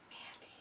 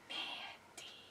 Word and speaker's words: Mandy: It's not Mandy. It's Mandy. You gotta lengthen it out.